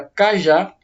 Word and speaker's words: cajá: Vou pegar uma palavra aqui mais tranquila, a palavra cajá. É uma palavra que eu divido em 2 sílabas, cajá. E a sílaba mais forte é a última.